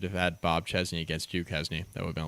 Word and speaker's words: Duquesne: Yeah, I have to do that to make sure that people know that I know how to pronounce it, but I also got to do the dad joke thing of pronouncing it the way that it's written in super white people English.